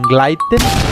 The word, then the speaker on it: gleiten: O en donde la E va antes que la I, como en gleiten, la E se transforma en una A.